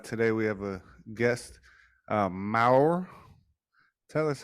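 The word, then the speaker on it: Már: Ghost one country, how Mal Brown Cow is like in England because you pronounce it as Maur. Maur. Rolling R, Maur. Maur, Maur. You gotta roll your tongue.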